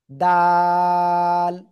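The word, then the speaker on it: دال: কোন জায়গা থেকে উচ্চারণ হবে? জিহ্বার আগা উপরে দুই দাঁতের গোড়ার সাথে। ঠিক আছে? দাল।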